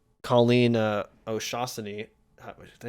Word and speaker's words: O'Shaughnessy: me was the fact that they called Colleen O'Shaughnessy. Did I say that right? I always second guess because when people have more than two syllables in their name. It's O'Shaughnessy.